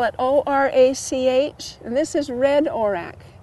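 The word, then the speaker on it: orach: Over here, you look in here, this is golden orac. You spell it O-R-A-C-H.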